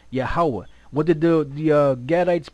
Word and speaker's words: Yahweh: They'll have their Hava, but we know there's no V in the Hebrew. It would be Yahweh. Yahweh.